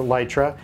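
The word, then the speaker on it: Litra: lit resort I trust although it's spelled litora but the company calls a light ray and they're pretty bright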